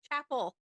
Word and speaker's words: Chappell: hot like no one you keep saying Chappelle it's Chapel Chapel Road it's the double isn't there two L's yes there's two chapel and because when I think of Chapel I think of like